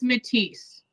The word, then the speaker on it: Matisse: right asking the applicant is it matisse it is matisse yeah okay now when